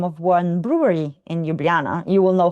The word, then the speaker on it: Ljubljana: So, officially we say Ljubljana with all the J's that we pronounce as Y's, but the locals would just say Ljubljana.